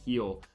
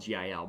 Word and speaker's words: Gil: that and G or heel sorry it's pronounced spelled Gil but heel has just not been